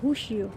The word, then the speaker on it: Rossio: আচ্ছা, যাই হোক, এই মেট্রো স্টেশনটাকে আমরা রশিও বলি, এই এলাকাটাকে বাংলাদেশিরা, কিন্তু এটার পর্তুগিজ ভাষা হবে হুশিও। ওরা আর কে হ উচ্চারণ করে।